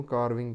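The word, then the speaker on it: carving: पत्थर नूं तोड़ के यानी कि उसकी मूर्ति बनाना कारविंग कहते हैं, कारविंग कारविंग कारविंग कारविंग are silent है, कारविंग कारविंग बोल रहे हैं।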